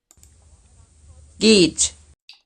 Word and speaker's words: geht: Geht. Gate. Gate. You have to smile. Make your lips tense.